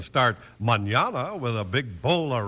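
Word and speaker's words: mañana: word Manana spelled m n n a and pronounced Manana in Spanish that means tomorrow very pretty sound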